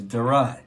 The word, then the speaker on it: Daron: So, Darrin, you have achieved so much success. How did you get into the music industry? And tell us, where are you from? It's pronounced Daron.